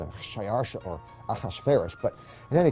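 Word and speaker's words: Xšayāršā: His Persian name, in Old Persian, which is his original native language, is Shayarsha. Now that was hard for the Jews to pronounce, so they said Ahashverosh.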